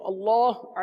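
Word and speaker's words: الله: या पेश हो तो अल्लाह अजज वजल के लाम कोपर पढ़ेंगे और जेर हो तो बारीक पढ़ेंगे अब यहां पर अल्लाह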